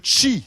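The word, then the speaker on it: Qi: on recharge nos appareils c'est le chi ça s'écrit Q I et c'est la recharge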